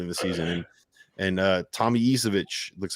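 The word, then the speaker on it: Ivišić: And Tommy Isevich looks like the guy that he was earlier this season. So I don't know. How did you pronounce that? Tommy Ivisic.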